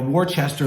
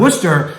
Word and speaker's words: Worcester: going to number three Worcester right or Worchester is a lot of people that don't know how to say it from the area and we